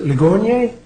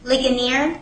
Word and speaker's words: Ligonier: the matter of G versus the pman the pronunciation is it Leon leer say it again please leaner leaner where are you I know you're here